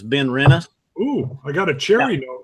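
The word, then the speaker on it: Benrinnes: pour your been Rinna's it's not as it's not been rinds it has been rent us oh I got a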